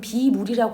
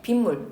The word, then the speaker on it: 빗물: 예를 들면 비하고 물은 비물이라고 안 해. 비물이라고 하면 비물이 뭐야? 물이 아니란 얘긴가가 되잖아. 그래서 우리 B플러스 물, B로 되어 있는 물은 뭐라고 발음하는데? 빗물.